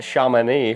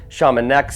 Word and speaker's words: Chamonix: Right now I am in Apparently it's pronounced Chamonix, France. I've been pronouncing it Chamonix this whole time.